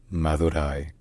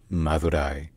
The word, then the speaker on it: Madurai: Locally, in Tamil, the city is called Madurai. The D is read like a Z, as in that's, so it's Madurai. Madurai.